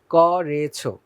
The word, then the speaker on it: করেছো: করেছো বললে হবে না করেছো ভুল বলতে হবে করেছো ক এর সাথে ওকার উচ্চারণ করতে হবে পরের শব্দটা আঞ্চলিক শব্দ